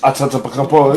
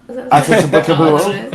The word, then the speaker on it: Antetokounmpo: You don't know who Giannis Antetokounmpo is? The Greek freak? Harakimbo? Antetokounmpo?